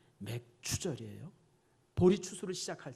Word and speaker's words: 맥추절: 그 다음에 이제 맥추절, 이게 발음 잘해야 돼요. 맥주절이 아니라 뭐라고요? 맥추절이에요.